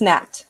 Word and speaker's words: gnat: Fungus gnat, like GNANT, G gnat.